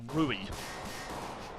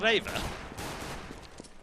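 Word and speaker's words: REWE: It's like Jason said to me the other day, what's that supermarket called Rui? And I said, you mean Raver? See? It's all in the pronunciation.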